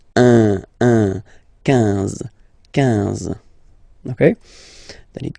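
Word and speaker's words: onze: 10, 10, okay, then 11, 11, okay, so O plus N give you the sound on, 11, 11, okay, final E doesn't exist phonetically, 11, okay, 12, 12,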